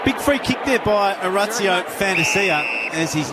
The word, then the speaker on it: Orazio Fantasia: Well, big free kick there by Orazio Fantasia, as his name is correctly pronounced, as we discovered during the week.